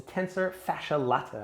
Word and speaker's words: tensor fasciae latae: tfl so it's a tensor fasciae latae i always say it like a coffee and that's connecting from